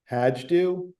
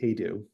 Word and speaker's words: Hajdu: I'd say most people pronounce it Hajdu, but it is actually Haidu. Yes. Haidu is the and if you're in Hungary, it would be Haidu.